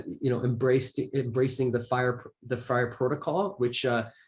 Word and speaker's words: FHIR: is now uh you know embraced embracing the fire the fryer protocol which uh fire is spelled fhir which is fast healthcare interoperability resources